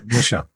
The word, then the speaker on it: Michel: know if I remember hearing his first name pronounced. Michel.